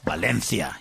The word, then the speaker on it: Valencia: The next one's going to be in Valencia. Well, Valencia, if you want to pronounce it correctly.